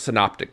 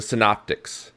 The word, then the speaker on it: synoptic: gospels are called the synoptics if you look at the word synoptic and break it down you got the first syllable sin s-y-n now it sounds like sin as in doing something wrong but completely unrelated sin